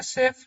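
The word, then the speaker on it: chef: में ये क्वेश्चन है सेफ क्यों सेफ इसलिए हुआ क्योंकि ये जो है ना ये आया फ्रेंच ओरिजन से आया है ये फ्रेंच आया है इसलिए सीई एफ सेफ होगा एम ए सी एच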